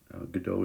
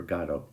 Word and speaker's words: Godot: Godot is usually the way that Americans say this word that's supposed to be a French name, but in England and in France, often they say waiting for Godot.